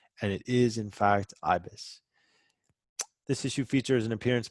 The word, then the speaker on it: Ibis: you that I feel like it should be pronounced Ibis, but it's not Ibis. There was a phonetic pronunciation in one of the issues or a couple of the issues, and it is, in fact, Ibis.